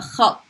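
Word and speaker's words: خط: Not khat, but khat. Ta. Khat. It's kha, followed by a ta, and it has a shadda at the end. So even though you're stopping, you're not pronouncing the shadda there. It's there, so if you were to say mine, make it mine, khatti, that ta would get pronounced twice.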